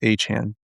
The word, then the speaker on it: Achane: I I Bro, he he literally said, "My name is pronounced Achane."